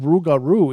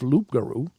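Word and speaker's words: rougarou: cree algonquin hybrid language the word rugaru is indeed a cree pronunciation of loop guru i don't know why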